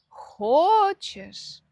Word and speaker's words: хочешь: Всё логично, но ты хочешь. Он хочет. То есть происходит перемещение, ударение в том же самом слове, только в разных его формах.